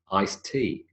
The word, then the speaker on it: iced tea: The same with tea, iced tea. Remember what we said about a D followed by a T last week? Iced tea.